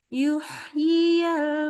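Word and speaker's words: يُحْيِ: Yuhyiyal mauta. Yuhyi. Jadi hak itu kan rohoh. Jangan selesai baca haknya yang sukun sampai ketemu yi. Jadi yuhyiyal. Hembusnya jalan terus.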